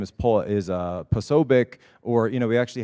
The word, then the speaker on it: Posobiec: And so he actually knew the Polish Posobiec is the proper way to say it. Oh, you know. So we usually go with Posobiec just because it's easier.